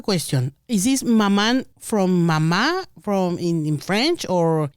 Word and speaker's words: Maman: Yes, so it's spelled Maman, m a m a n. It is the French word pronounced Mama.